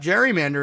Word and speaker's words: gerrymander: passed on Elbridge Gerry Garry's surname was pronounced with a hard G but gerrymander is pronounced with either a hard or soft G so I guess we